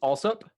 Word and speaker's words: Allsup: And then is it pronounced Allsup? Yeah, that's correct.